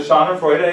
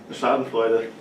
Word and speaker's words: Schadenfreude: So Schadenfreude is with happiness from someone else's sadness, right? Right? Somebody else is sad and you're happy. How do you pronounce it? Schadenfreude.